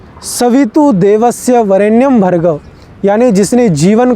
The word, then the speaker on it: देवस्य: बोल दिया जाता है देवस्य है देवस्य नहीं स है श नहीं देवस्य इन उच्चारण का ध्यान रखना बहुत आवश्यक है स होता है श नहीं और सुव नहीं